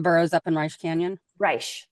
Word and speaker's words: Reche Canyon: Reich, thank you. Yep. It's not Reche.